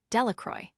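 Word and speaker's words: Delacroix: Bobby and Harry Jones and Dicky Dacqua. The villagers pronounced this name Delacroy eventually made a great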